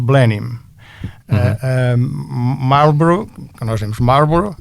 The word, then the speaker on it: Blenheim: língua inglesa tem especificidades, porque em inglês Blenheim que nós pronunciamos a à alemã é dito Blenim.